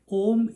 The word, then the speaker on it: om: do that way but you should not separate a and u because om is one syllable it is not three